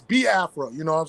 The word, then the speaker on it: Biafra: the i e sounds but it's ba Afra because even myself even with my my my Southern you know say accent is like I get tongue tied and I say ba AFA so it's ba AFA you know what I'm